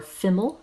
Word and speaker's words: FIML: likelihood abbreviated rather than ml as fiml or female as it is pronounced for whatever reason remmel